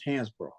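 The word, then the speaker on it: Hansbro: hansborough hands the way they spelled it it's pronounce Hans bro but the way they spelled it back in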